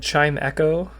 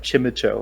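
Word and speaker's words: Chimecho: thought it was like chimicho or something I always pronounced it chimicho I think the rule of thumb when it comes to Pokemon is whatever the pun is pronounce it like that I didn't realize there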